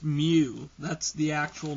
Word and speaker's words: mu: lowercase m in the greek alphabet and it's pronounced mu that's the actual name okay to me it looks like a cursive u but it's mu and the formula for the population mean would